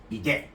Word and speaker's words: bidet: So let's start first, Joseph, by talking about the correct pronunciation of a bidet. That's how the French call it. You do a French accent, bidet.